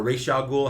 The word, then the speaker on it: Ra's al Ghul: or I don't care a race y'all ghoul how you want to pronounce it I'm I grew up saying race because of the cartoon so that's just that's usually how I pronounce it except for that